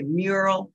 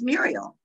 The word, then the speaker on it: Muriel: know some people say mural some people say Maran I said Mariel but it's Muriel and I said if